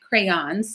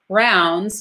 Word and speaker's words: crayons: they don't know that it's crayon it's crayons right crayons so we say crowns crowns crowns crowns but it's not I said it too